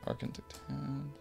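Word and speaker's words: Arkngthand: Arkentand. That is a horrifying name to pronounce. I'm just going to look it up because I was almost positive that was it. Arkentand.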